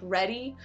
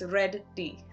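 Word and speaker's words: Reddy: ready ready it's 2d I always say it like ready but it's red dee I know I'm getting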